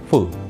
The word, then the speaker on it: full: Seringkali kita mengucapkan kata full tapi terlalu ditekan, sehingga bukan full yang kita ucapkan tapi full. Oke, apa bedanya? Oke, versi yang benar, pengucapannya adalah full, tanpa ditekan dan pendek saja.